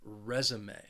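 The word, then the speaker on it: résumé: your education resume but I think Learners quite quite often confuse it with the verb resume which has two syllables and the stress is on the second syllable resume but we're talking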